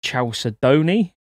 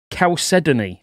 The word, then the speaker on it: chalcedony: had to look up i've always called that chalcedony don't laugh at me i don't know what it is i had to just look up how to pronounce that properly chalcedony apparently but if you get that